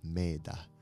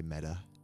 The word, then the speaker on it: Mettā: you don't know what meta means it's actually pronounced made but we just say meta and means loving kindness and benevolence goodness and